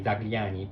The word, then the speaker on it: Zagliani: I will show you how it is pronounced. So how it's written. It's written Zagliani, Zagliani.